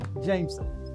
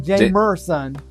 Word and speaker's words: Jameson: o what Irish whiskey Jameson not Jam meron Jameson Jameson what spell it j a m e s o n where's the r where's I didn't say an R I said J was was Jamon Jameson I'm drinking Jameson God